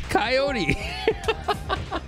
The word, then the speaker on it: Coyote: The best part is everyone gets it wrong. They all do, like, without fail. It's a rare occurrence when someone gets it right. It's Coyote.